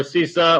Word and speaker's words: CISA: so again cisa and you can pronounce it sisa or csa or cisa we don't care uh how you calls